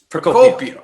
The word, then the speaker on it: Procopio: Procopio. Oh, it's a hard C there.